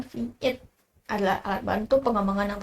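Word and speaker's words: Vite: Oke, jadi di sini P ini tuh dalam kota Prancis cepat diucapkan Vit adalah alat bantu pengembangan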